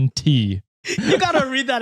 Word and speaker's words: Shant: Meg says, I recently met someone whose name is spelled Shant with a silent T. LOL. So it's SHAWNT.